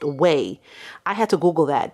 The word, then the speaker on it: Ouai: going to be using it's spelled o-u-a-i but it's actually pronounced whey i had to google